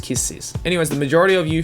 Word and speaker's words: Kiss x Sis: lot of people say kiss X's but the x is silent so it's just kisses anywayss the majority of